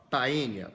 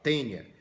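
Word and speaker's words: Taenia: porco duas observações primeiro escreve Taia mas a pronúncia do ae em Latim é E então você não fala Taia você fala tênia assim como o mosquito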